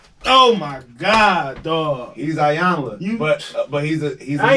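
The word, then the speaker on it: Iyanla: He's Ayanla. You- But he's a I ain't know man. that's her name. I've been saying it wrong all the time. Damn. I've been saying Ayana.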